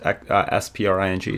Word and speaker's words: Xpring: today we are announcing spring pronounced SPR ing spring spring is a new